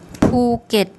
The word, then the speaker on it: ภูเก็ต: And the second syllable, we have a mid class initial consonant. It's a dead syllable because it ends with a T sound. Anything that ends with a P, K or T is a dead syllable. And this is actually a short vowel. So a mid-class initial consonant, dead syllable, short vowel makes a low class, makes a low tone.